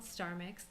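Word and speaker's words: STRmix: So with this new technology, it's called StarMix. That's the name of the software that we use. Or Yeah. that's the way I pronounce it. Yeah, It's yeah. STR mix, star mix.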